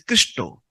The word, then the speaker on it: Krishna: Because in India, Bengalis people, when they use the word Krishna, they pronounce it as Christo.